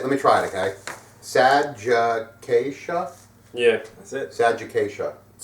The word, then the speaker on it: Sadgiqacea: four minutes of me just like trying to pronounce the name I'm so glad that let me try it okay sad Jaa yeah that's it sag sad yeah um yeah